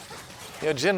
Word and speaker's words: Jhin: Jhin rhymes with win, but that doesn't matter because he can't.